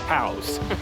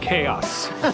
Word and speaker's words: chaos: Apparently, Derrida was giving a lecture in English, and he kept talking about cows.